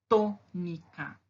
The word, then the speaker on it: tônica: Tônica. Qual a sílaba mais forte? To. Né? É a primeira. To. Eu falo tônica e não tônica ou tônica. Certo? Então, a primeira sílaba é a mais forte.